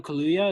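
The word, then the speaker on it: Kaluuya: the guy who wanted Klaw the most Daniel Kalia is that how you pronounce last name yeah yeah yeah he was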